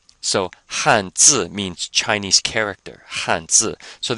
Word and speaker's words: 汉字: 吃饭, 饭, 饭, 饭, except now we have an H before it, so it sounds like Han. So let's try this together. 2 fourth tones. 汉字, 汉字, 汉字.